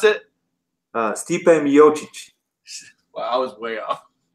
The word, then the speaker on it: Stipe Miocic: How do you pronounce it? Stipe Miocic.